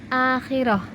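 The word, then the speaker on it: آخرة: Akhiratun, dibaca akhirah.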